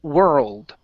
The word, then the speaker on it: world: the word world okay so two sounds ear old world world there you go that's better uh the World Health we're